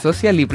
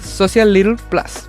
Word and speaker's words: SociaLi Plus: Social Lipl. Así. Esa es la pronunciación correcta. Sí, esa es la es como medio spanglish. Como tiene un poco de todo. Yo iba a decir Social Little Plus, pero no, no, Lithium.